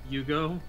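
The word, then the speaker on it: Iugo: It's I-U-G-O. Yugo, I guess? Alright, just Yugo. Just don't put a hue there. So, just Yugo.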